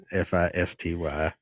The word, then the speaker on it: Fisty: Feisty, for those who may not know, is spelled Fisty. F I S T Y.